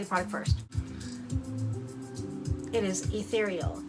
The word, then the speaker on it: Ethereal: It is Ethereal. It's got the 8, but it's pronounced Ethereal.